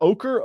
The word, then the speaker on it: ochre: guess down under the the jersey color is ochre. Is that how do you pronounce that? Ochre.